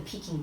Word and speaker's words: Peking: China is Beijing and the peaking is the Cantonese pronunciation of Beijing or bucking and Cantonese so they just kept